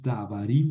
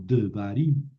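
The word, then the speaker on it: דברים: Como aquí no es davarim, sino devarim, ¿verdad?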